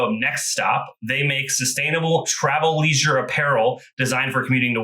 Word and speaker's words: Travleisure: i am pumped that i uh read and pronounce travel leisure on the fly correctly the first time that's